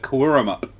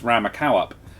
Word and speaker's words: Cowaramup: There is a place south of where we live, Daria, called Quartermaster, but it's spelt Cowaramup. Nice. Mm-hmm. So inevitably, I read it as a dyslexic person as Ramakowup.